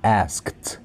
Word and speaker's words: asked: will be asked to, asked itu bacanya gini guys, kalau yang belum tahu ya, kalau ASK kan ask. Kalau ada ED-nya tambahin aja T, asked gitu ya, sebenarnya gitu, ask K ketemu T gitu, tapi bisa disingkat jadi AST, asked ya.